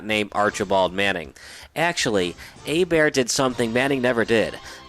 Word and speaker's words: Hebert: didn't grow up in Cajun Country you probably mispronounced his last name as Herbert or Hebert that's fine you're not the only one his last name is actually pronounced a bear and his career prior to the Drew Brees